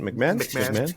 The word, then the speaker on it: McMahon: McMahon.